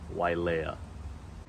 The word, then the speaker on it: Wailea: developments and beautiful beaches as well and it's pronounced Wailea and past that is McKenna there's a lot